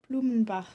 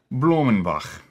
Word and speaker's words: Blumenbach: How do you pronounce that guy's name? Blumenbach. Blumenbach.